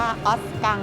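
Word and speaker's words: Ausgang: ทาง ซ้าย นั่น ไง คำ ว่า Exit ภาษา เยอรมัน อ่าน ว่า ออสกัง เนี่ย ทาง ออก บริเวณ สถานี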